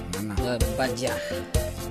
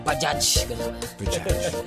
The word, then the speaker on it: Bajaj: Badya. Ngam no, da ka itulit no talagang i-pronounce sa mga nga da DJ na Bajaj.